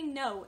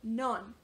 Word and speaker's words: non: for example to say no in French it is spelled n-o-n but you don't pronounce the last n so it's like and